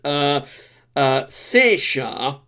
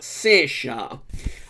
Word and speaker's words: Saoirse: Now I think that S is Saoirse. I'm sure someone in Ireland will correct me if that's wrong, but I think you pronounce that Saoirse.